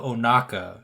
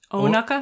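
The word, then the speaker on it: Ohnaka: So Hondo Onaka is how everyone says it, and he said something more like Onaka? Onaka.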